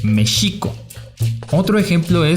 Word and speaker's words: México: nunca pronunciaron bien y es por eso por lo que en mexico se pronuncia con jota en mexico en lugar de la forma correcta que es méxico otro ejemplo de xochimilco